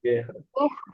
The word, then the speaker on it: guerras: Só tem que lembrar, dois R's como J. Guerras.